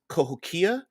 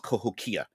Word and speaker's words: Cahokia: a city known as kahokia and I'm trying to pronounce it without it could be Cahokia but I believe there's no emphasis on any particular syllable so I believe it's pronounced kahokia there's a pronunciation guide